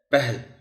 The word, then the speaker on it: پہل: ہوگی۔ خاطر، پہل، اس لفظ کو اکثر و بیشتر ہے پر زبر کے ساتھ پڑھ لیا جاتا ہے، پہل، یہ غلط ہوگا، لفظ ہے پہل، پہل، جزم ہے کے اوپر۔ حقوق، اس لفظ کا